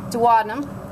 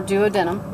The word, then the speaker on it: duodenum: I guess again pancreas duodenum or duodenum your your choice on pronunciation that's about it for